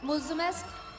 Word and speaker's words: Mulțumesc: Am I pronouncing it right? Mulțumesc?